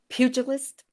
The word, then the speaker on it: pugilist: And from that, we're working towards pugilist, is that how you say it? Who enters the ring? Pugilist. Because pugilist, okay, we pronounce the G.